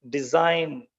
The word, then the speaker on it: design: silent Z sign resign design mign Sovereign in all these words G is unpronounced that is why it